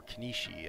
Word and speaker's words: Kenshi: our first day in kimchi or Konishi as I've heard it pronounced okay that's five they